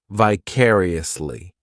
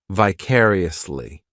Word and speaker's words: vicariously: adverb which is vicariously this adverb has five syllables and the stress is on that second syllable vicariously the third syllable it's like that letter I just has that e sound and the fourth syllable has the schah vicariously what this adverb